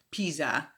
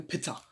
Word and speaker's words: Pizza: I said pizza für Pizza. Actually it's pizza. Ich habe da so ein kleines Ausspracheproblem. Das Z wird nicht ganz so weich ausgesprochen, wie ich es gesagt habe.